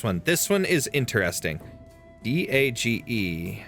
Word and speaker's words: Dage: D A G E. How to pronounce? Okay, let's let's find this. How to pronounce Daga.